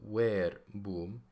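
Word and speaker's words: verbum: it's it is but we pronounce it as W so where boom whose basic meaning is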